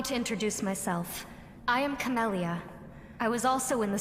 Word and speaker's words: Camellia: Oh, and for all the people that don't actually pay attention to anything the characters say, her name is Camellia, not Camellia. It's Camellia, not Camellia. 2 L's, not 1.